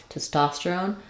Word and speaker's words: testosterone: longer word like testosterone it can help to start on the stress syllable that can give you the Rhythm and the vowel Clarity that would sound like tosterone testosterone it can help